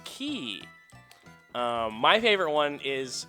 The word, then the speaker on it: Quay: I assume, based on the pronunciation game, that it's not pronounced Quay. But there we go. Maybe it's QA? I don't know. It's Q-U-A-Y is the pronunciation, is the spelling. It's Key.